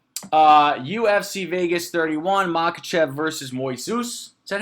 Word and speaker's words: Moises: So, UFC Vegas 31, Makhachev versus Moises. Is that how you say it? Moises.